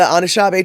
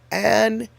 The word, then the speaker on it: Anishinaabe: And oh, you live near two of the Anishinaabe tribes, and I think I'm saying it totally wrong, actually. Anishinaabe. Yep, I was saying it wrong.